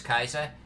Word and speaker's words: Caesar: see you back Oh what about pronouncing Caesar as kaiser secretly in my head I do because for a brief moment I was looking at Roman Latin and the pronounce a pronunciation of Roman Latin and not all modern-day Latin and not like the earlier Catholic Latin but true Roman Latin yeah with the sea